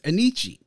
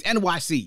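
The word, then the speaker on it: Enyce: in the Italian, how it was being pronounced. Therefore, that became the way it was supposed to be, the correct pronunciation of it. But it's NYC, y'all. That's what it is. That's what the brand is.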